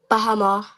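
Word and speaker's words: בהמה: Now, Ayala, could you tell us how we would pronounce this first word in the Hebrew? Beasts. Khan. Bahama.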